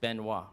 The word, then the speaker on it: Benoit: "Benoit" is pronounced benwa right, so I'm not using a French voice but I can save this pronunciation to my list.